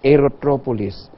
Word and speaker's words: aerotropolis: So we have our advocacy again on aerotropolis, airport-driven cities. How do you say that? Aerotropolis. Aerotropolis. A polis is city, aerotro is the airport.